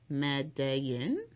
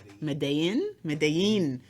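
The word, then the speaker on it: Medellín: And then Colombia, also their food, but I never pronounce this right. Medellin? But it's two L's, so it's a Y. I know what you're talking about. Medellin.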